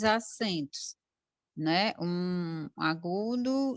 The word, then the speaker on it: où: U. Tá? U é o mesmo ou de conjunção, a mesma pronúncia.